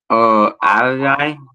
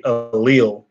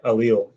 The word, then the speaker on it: allele: Ally or Ali, I don't know how to pronounce it. Yes, correct. Thank you, Castro. It should be allele. It's a hard word to say, allele.